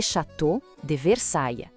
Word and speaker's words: Château de Versailles: Vamos com calma na pronúncia. Le Château de Versailles.